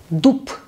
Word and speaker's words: дуб: Если такая буква в конце слова, то мы должны произносить глухой звук. Например, у нас есть слово дуб. Дуб. В конце буква Б. Мы с вами видели, что буква Б может давать два звука. Б, П. Б звонкий, П глухой.